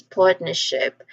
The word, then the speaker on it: partnership: So um usually um this word partnership it tends to be said as partnership.